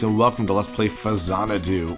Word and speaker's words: Faxanadu: welcome to let's play fazana do or if you were stupid like me growing up you called it faksanito which is not how you pronounce it at all this is a relatively